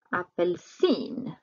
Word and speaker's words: apelsin: Apelsin. Betoning på slutet.